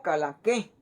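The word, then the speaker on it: Kalanchoe: Calanchoe se puede pronunciar como calanque, porque vamos a eliminar esta que tenemos de aquí para acá, y esta CH en la regla anterior nos dice que se pronuncia como una K. Entonces voy a eliminar la CH por lo que es una K y esta letra OE como una E.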